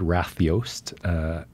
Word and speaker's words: Ratljóst: It's an Icelandic word. Yeah, it's a uniquely Icelandic word that I looked up specifically trying to find title for the exhibition, and this word Ratljóst. Ratljóst, yeah. Ratljóst.